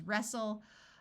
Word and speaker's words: wrestle: Castle wrestle note that when a word starts with w r the W is silent so this word is wrestle Apostle and whistle words